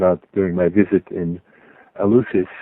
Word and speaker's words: Eleusis: What I didn't mention, what I found out during my visit in Eleusis, or Alephsis as the Greeks pronounce it, was the number of initiates.